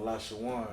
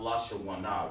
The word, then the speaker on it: Lashawan: Lashawana instead of Lashawan. No, it's Lashawan, right. It's not Lashawana, right, exactly.